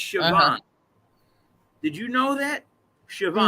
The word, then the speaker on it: Siobhan: i just okay so s-i-o-b-i-a-n siobhan right no it's yeah it's chabot did you know that